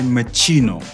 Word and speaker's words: Moschino: I I would say Machino. like cappuccino. Yes, just like that. So Must be yeah, Italian. yeah, it is Italian, and I actually would